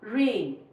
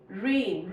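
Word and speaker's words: rain: दूसरे की कोई भी साउंड नहीं प्रोनाउंस करनी। जैसे कि इ में इ आ जाएगा। ओ यू आई। जैसे फॉर एग्जांपल रेन। रेन।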